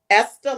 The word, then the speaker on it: Esther: there but tell us why why you created esther locks and also tell us where the name